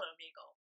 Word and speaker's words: Omegle: like first of all it's called omigle I don't care who who says it's om it's no that's a long e hey what did you